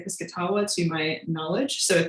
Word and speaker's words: Piscataway: eastern shore and also the pizzitawa people who are also um referred to as the piscataway i've heard both pronunciations um when i've heard indigenous people say it they say this katawa to my knowledge so